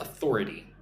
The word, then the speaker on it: authority: So, look at the word authority. Author, I d four syllables. Authority. Put the emphasis on the second syllable. One, two.